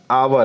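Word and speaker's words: hour: लेकिन अब समझने वाली बात यह है कि यहाँ आवर है, इसको हावर तो नहीं ना पढ़ सकते हैं। हिंदी प्रोनाउंसिएशन के अनुसार इसको आवर पढ़ेंगे।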